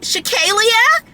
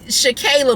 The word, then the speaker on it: Shakayla: and in corporate America, they would be like, Shakalia? Shakalia Mackey? Or no, Shakalia McKee? And it would be Shakayla McKee. And this was like, why you gotta pronounce every syllable?